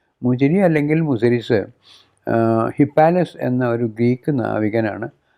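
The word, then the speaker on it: Muziris: അതിന് ഗ്രീക്ക് കാരണം അതിന്റെ ഗ്രീക്കുകാര അതിനെ മുസിരീസ് എന്നാണ് വിളിച്ചിരുന്നത് അവരുടെ ഉച്ചാരണത്തിൽ അത് അങ്ങനെയാണ് മുജിനി അല്ലെങ്കിൽ മുസിരീസ് ഹിപ്പാലിസ് എന്ന ഒരു ഗ്രീക്ക്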